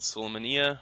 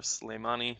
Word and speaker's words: Sulaymaniyah: in a city called Sulaymaniyah, or Sulaymani, depending on Kurdish or Arabic pronunciations, up in the Iraqi Kurdistan region of Iraq, up north.